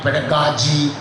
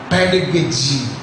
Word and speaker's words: pedagogy: They call it pedagogy and they call it in different ways. The actual pronunciation is pedagogy.